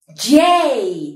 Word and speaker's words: J: h detrás age bien jay también tiene el mismo sonido que la en inglés y jay como acordarme de que la jota se pronuncia jay y no confundirla con